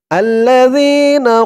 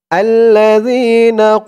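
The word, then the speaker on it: الَّذِينَ: পরে ইয়া সাকিন আর এই জালের উচ্চারণটা একদম নরম পাতলা হবে জিহ্বার মাথা উপরের দাঁতের মাথার সাথে লাগবে আল্লাজিনা আল্লাজিনা এক আলিফ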